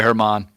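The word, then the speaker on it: Germán: All right, sorry, Herman. Sorry. I misread your name. He's not German. On the Wikipedia, it looks like a German.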